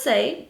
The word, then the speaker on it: Saie: comments about this and it's the say beauty i think that's how you pronounce this brand s-a-i-e say uh that's what i'm gonna call it sun melt bronzer so